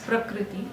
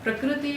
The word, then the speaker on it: prakruti: and the dick rooting i will spell it properly it is called as prakriti sorry prakruti actually means a natural